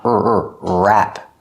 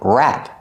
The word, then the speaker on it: wrap: The W is silent. Make the sound wrap. Use a short A sound like black cat, wrap.